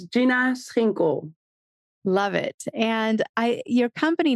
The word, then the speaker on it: Schinkel: So it's Gina Schinkel.